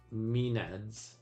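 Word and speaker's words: maenads: Oh, here's how you say mined minads.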